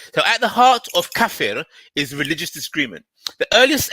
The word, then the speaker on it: kafir: It's kafir. Kafir. Okay, good. Okay. Perfectly. You know that second time, perfectly pronounced.